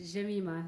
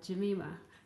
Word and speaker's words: Jemima: you for being here my name is actually pronounced jamima jamima so just for clarification um i just